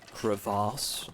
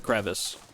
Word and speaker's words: crevice: I don't trust anybody that that genuinely unironically pronounces it uh creass and says it like that. It's a crevice, you know. We don't need to glam it up.